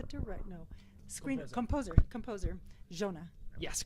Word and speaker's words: Giona: Utah with the direct no screen composer composer Jonah yes correct how do you say your last